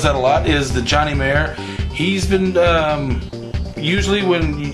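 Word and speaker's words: Johnny Marr: for that dude and I do know that that's the right pronunciation for now is that the Johnny mayor and that's j o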